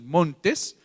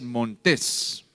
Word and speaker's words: montés: Entonces, no es montes, porque montes llevaría acentuación en la o y como lleva en la e es montés.